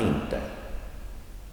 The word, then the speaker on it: inte: Inte. That special word inte also. Short pronunciation or no emphasis.